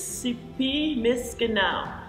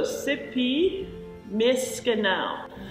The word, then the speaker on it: Sipi Miskanaw: One of the Michif language spellings and pronunciations for the name of River Street is Sipi Miskanao. So Sipi Miskanao.